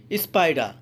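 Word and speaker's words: spider: এখানে দেখেন পি এর আগে এস আছে, এজন্য এই পি এর উচ্চারণটা পই হয়েছে, ফ হয়নি।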